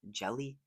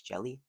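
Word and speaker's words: Hjelle: There's no player at 6'10", but there is one at 6'11", and that is Sean Jelly. I think the H is silent, so it's Jelly.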